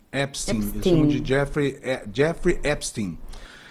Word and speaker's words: Epstein: A pronúncia correta lá nos Estados Unidos é Epstein. Epstein.